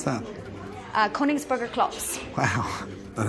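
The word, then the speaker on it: Königsberger Klopse: How do you pronounce that? Koningsburger Klops.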